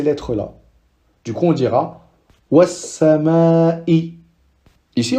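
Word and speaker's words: وَالسَّمَاءِ: Ici, on ne dira pas wal sama'i. On voit que c'est un peu compliqué. Wal sama. On doit s'arrêter pour prononcer le sin. Alors que si on fait le dédoublement du sin, c'est naturel. Was-sama'i.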